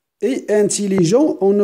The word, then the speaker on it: intelligent: Regarde, il est anglais. On ne prononce pas S. Grand, on ne prononce pas D. Et intelligent, on ne prononce pas T.